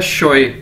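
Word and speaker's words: 学: अब next word है हमारे पास दोस्तों एक्स यू ई, एक्स को चाइनीज में शीन के तौर पर प्रोनाउंस किया जाता है, तो ये क्या है, शोए, और एस एच ई एन जी शंग, ठीक है।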